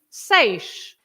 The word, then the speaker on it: seis: The sound is always A. And for example, you have a very simple word with the A, which is seis, the number 6. It's the same sound, right? Seis, good.